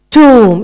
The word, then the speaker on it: tomb: Even nowadays, people are buried and put into a stone covering thing called tomb.